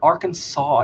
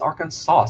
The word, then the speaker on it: Arkansas: It's not Arkansas, it's Arkansas. There's an S at the end.